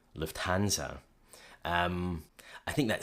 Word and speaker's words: Lufthansa: In English, people usually say Lufthansa, but in German, we say Lufthansa. So the emphasis is on the first syllable.